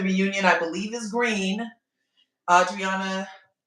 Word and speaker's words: Audriana: Audriana, I keep saying her name wrong because there was an Andreana on Love Island, but you know, Audriana,